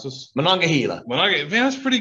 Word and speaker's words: Monongahela: my best here billy you're gonna try to pronounce this monongahela when i get that's pretty good all those years of high school announcing sports oh my goodness so um on this monongahela river lies a chemical facility storage tank farm